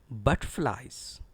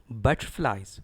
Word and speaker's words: butterflies: Certain students pronounce it as butterflies. Dear students, what is this? Actually, it is butterflies. Stress is on BUT. Butterflies.